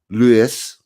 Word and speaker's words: Lewes: in the usually peaceful country kind of Lewis pronounced Lewis East Sussex every year on the 5th of